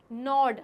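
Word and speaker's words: gnaw: किसी के सामने नोड अब ये जो शब्द है नोड जिसमें जो ये जी है वो साइलेंट है यानी जी स्पेलिंग में तो आएगा लेकिन जब हम बोलेंगे तो गॉड नहीं बोलेंगे नोड कहेंगे और इसका मतलब होता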